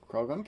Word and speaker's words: Croagunk: Croagunk. Is that how you say that? Croagunk, yep, go for it.